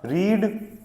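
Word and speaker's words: read: रीड रेड और रेड। ये तीन फॉर्म होती है। इसको बोलते हैं रीड, this is रेड and this is रेड। Spelling is same. तीनों की स्पेलिंग सेम होती है। प्रोनंसिएशन डिफरेंट होता है।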